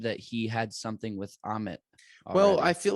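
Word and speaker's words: Ammit: Autumn? Amit.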